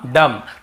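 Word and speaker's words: dumb: लेकिन ज्यादातर आप देखेंगे ये सब वर्ड्स में हम एम के बाद बी का उच्चारण नहीं करते हैं। कॉम, बॉम्ब, थम, डम, थम्ब ऐसे बोलते थे, याद रखिए।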